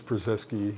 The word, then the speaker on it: Purzycki: I said, "Oh, it's Purzycki."